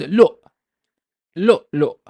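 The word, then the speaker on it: لؤلؤ: So it's lo, lo, lo. Basically, it's the same syllable doubled.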